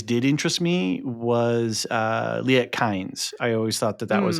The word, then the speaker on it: Kynes: So it's Kynes and it's it's Harkonnen.